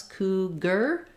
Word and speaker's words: cougar: that word leopard um for cougar OU says the u sound first syllable stress cougar letters AR say ER